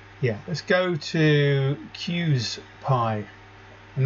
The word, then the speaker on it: QSPIE: yeah let's go to cues pi and that's pronounced cues like that and then pi that's what i'm calling